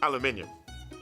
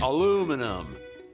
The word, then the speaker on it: aluminium: play this little clip we brits say aluminium and the americans say aluminum but who's right i